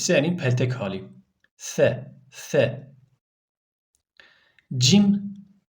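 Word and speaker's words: ج: Peltek hali fe fe cim cim harfi arkadaşlar cümle içerisinde kullanıldığında C ci cu şeklinde okunur Yani bunu kelime içinde okurken cim diye okumuyoruz Çünkü bu da Elif gibi Elif mesela harfin ismiydi cim harfin ismi He arkadaşlar He ince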